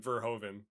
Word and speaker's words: Verhoeven: And then Verhoeven. Verhoeven. Yeah. It's spelled. Look here. It's like Ver, and then like ho, like you're a hoe, HOE, yeah, and then.